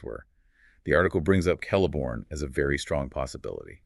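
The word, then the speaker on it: Celeborn: The article brings up Kelliborn as a very strong possibility. Okay. Kelliborn. And again, that C is a hard K sound. So Kelliborn, exactly.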